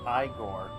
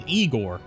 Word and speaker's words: Igor: make your acquaintance I thought his name was pronounced igore no that's igore not eigor well they told me it was igore no that's a no that is igore who whose name is pronounced igore this is eigor dude that joke was a ear sore this